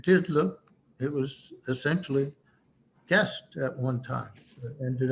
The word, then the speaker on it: Gist: markers placed in three guest guest settlements by the way it's a gis t and it's pronounced g-u-e-s-t and when you look